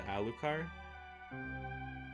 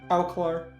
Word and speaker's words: Alucard: learn how to cook to get closer to Alucard? Alclar. Alclar? No, the Alclar? D is silent, Will.